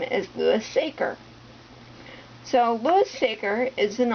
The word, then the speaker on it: Louis Sachar: author and found out that his name is Louis saer so Louis saer is an author that has